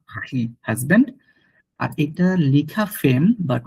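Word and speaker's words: femme: মানে হাসবেন্ড মাখি মা হাসবেন্ড আর এটা লিখা ফেম বাট উচ্চারণটা হয় ফাম ফাম মানে ওয়াইফম ফাম মানে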